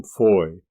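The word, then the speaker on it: Fowey: The former hailed from Plymouth, the latter from Foy, or as we spell it nowadays, fo wy.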